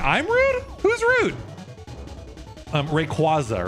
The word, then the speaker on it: Rayquaza: And the reason is they tried to stress multiple syllables in a single word. They told you it's not Rayquaza, it's Rayquaza. Two stress syllables and that violates rules of English.